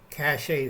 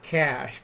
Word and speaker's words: cache: have a food cache cache that's French not cash cache it's spelled c a c h e cachet all right I always